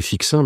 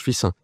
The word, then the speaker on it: Fixin: épouse j'étais de fissin ça sécit Fixin mais ça se prononce fissin donc j'ai grandi enfin